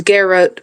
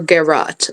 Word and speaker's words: garrote: Commonly pronounced as Garrett or Garrot.